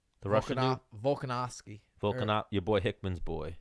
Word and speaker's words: Volkanovski: How do you pronounce his name? The it. Russian dude. Volkanovski. Volkanov. Your boy Hickman's boy. Yes. Volkanovski.